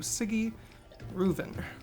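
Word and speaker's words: Sigi Reuven: go to the bathhouse to talk to a ciggy reuven that's how you say his name i've also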